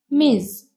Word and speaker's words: Ms.: For all women, you can also use Ms. pronounced Ms.